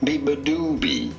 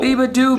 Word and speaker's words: Beabadoobee: BEABADOOBEE. You do want to stress on the third syllable. BEABADOOBEE. The do syllable. BEABADOOBEE.